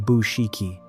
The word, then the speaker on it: Bouchikhi: The man they killed was named Ahmed Bouchikhi, pronounced Bouchikhi.